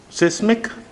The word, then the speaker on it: seismic: Seismic? Do you think so? I'm telling it correctly? Seismic? No, I'm not telling it correctly. The pronunciation of this word is seismic. What is it? Seismic. It's not seismic.